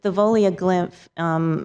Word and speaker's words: Thavolia Glymph: WENDY: And can you say the name for me so I don't have to pronounce it? TAMIKA NUNLEY: Yes. Thavolia Glymph.